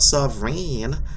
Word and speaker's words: sovereign: see that the word the last part of the syllable sub Reign is not sovereign it's of rain it sounds like a long a sound Sovereign all right question